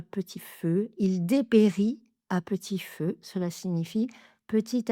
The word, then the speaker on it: à petit feu: petit feu, il dépérit à petit feu, cela signifie petit à petit, il décline. Il dépérit à petit feu. Donc, à petit feu. Même chose, trois syllabes, à p petit feu, à p à p petit feu.